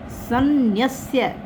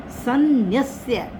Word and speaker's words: सन्न्यस्य: सन्न्यस्य में ही गलती होगी। सन्न्यस्य, स के बाद न, स के साथ हल्का सा न, सन्न्यस्य मत्पराः।